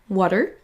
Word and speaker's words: water: Il faut pas le prononcer water par exemple water. Mais aussi l'accentuation de la syllabe qui est importante. Là on va prononcer la première plus longue plus longtemps. Water.